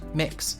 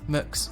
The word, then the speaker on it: Mx: used accepted and understood the gender neutral title mx pronounced mix mooks or mx was also introduced in